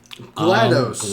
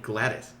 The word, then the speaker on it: GLaDOS: give us a little GLaDOS GLaDOS is the main villain of Portal and is one clever Thought Glattis Glados That's why the the D is accentuated when you spell it out Yeah Yeah It's